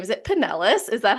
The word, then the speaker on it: Pinellas: I'm going to butcher this name, is it Pinellas?